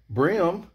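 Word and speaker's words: bream: how you say it brim because it's spelt b-r-e-a-m that's tennessee mississippi prime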